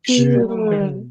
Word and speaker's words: schön: schön, 아름다운이라는 뜻이고요.